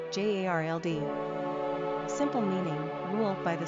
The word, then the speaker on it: Gerald: Pronunciation, Jarld. Simple meaning, ruled by the spear. Characteristics of Gerald.